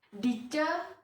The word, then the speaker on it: Ditje: Dice Budiarsi, dilihat dari namanya aja masih pakai ejaan lama ya, bukan Dice tapi DITJE.